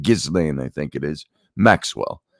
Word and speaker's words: Ghislaine: Ghislaine, I think it is, Maxwell, by Virginia Giuffre, who's claimed to be one of the victims of Epstein's sexual assault crimes.